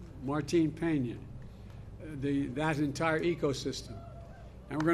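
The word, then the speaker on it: Martín Peña: canal to restore Cano, help me with the pronunciation. Martin Peña, that entire ecosystem.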